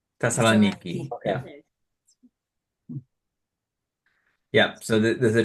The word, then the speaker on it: Thessaloniki: Thessaloniki. Thessaloniki.